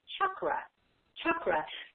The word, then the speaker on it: chakra: The real pronunciation is cha for the CH. Cha is in church, just like we would normally do a CH. And the A sound is an like a U, like an So the really right way to say it, if you get very, very technical with the Sanskrit, is chakra.